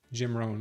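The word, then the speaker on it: Jim Rohn: And Jim Ran, Ran is spelled R O H. Jim Ran.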